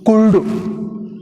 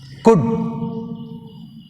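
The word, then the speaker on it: could: Some students are pronounce వుల్డ్, కుల్డ్, షుల్డ్. మీరు ఇట్లా పలుకుతుంటారు. ఈ కుల్డు, షుల్డు, ఉల్డు అని ఎల్ పలికినప్పుడు హౌ కెన్ we identify, how కెన్ you identify silent letters? నీకు ఎట్లా దొరుకుతాయి చెప్పండి? ఆ సైలెంట్ దాన్ని పలుకొద్దు. మళ్ళీ మళ్ళీ చెప్పేది అదే నేను. వుడ్. వుడ్ which is silent, L silent. కుడ్, ఎల్ is silent. షుడ్, L silent.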